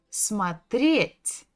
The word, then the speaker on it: смотреть: Ударение на «е». Смотреть.